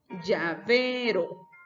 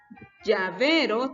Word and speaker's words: llavero: Llavero. Llavero tiene su mayor fuerza de voz en V, que es la penúltima sílaba, pero termina en vocal